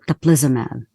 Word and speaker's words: teplizumab: so during development the the medication was called taplizamab I just wanted you to say it because